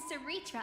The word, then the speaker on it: Cerydra: Alayia and Seritra are prominent figures. That's how you pronounce her name.